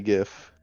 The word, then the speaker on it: GIF: The hard G GIF.